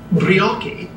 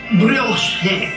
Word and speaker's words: brioche: some listeners that i might have said uh biryaki when anyone of taste and breeding knows the proper continental pronunciation being brioche i hope that settles